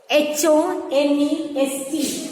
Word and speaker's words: honest: H-O-N-E-S-T. Honest. So here, the H is silent here. Okay? We say it as honest.